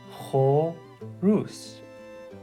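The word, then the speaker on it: خروس: This one is, again, when we break it up, there's a slight emphasis on the R sound. So this is horus, horus. So when you put it together, horus, horus, which means rooster.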